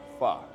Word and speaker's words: pho: So pronounced F-A, pho, but it's spelled P-H-O.